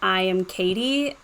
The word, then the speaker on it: IAMKAITY: media with the username I am Katie, but it's spelled really weird. It's IAMKAITY.